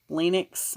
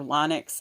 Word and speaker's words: Linux: management Photoshop social networking Linux or Linux I don't depends on where you're at how that's pronounced SEO website development WordPress